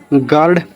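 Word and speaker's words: guard: गार्ड तो जी के बाद में यू आ रहा है तो इसको क्या कर दो? साइलेंट कर दो।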